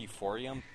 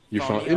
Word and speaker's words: euphonium: But I guess moving on, you guys can talk about sound euphonium or sound euphorium. Sound Sure. Euphonium?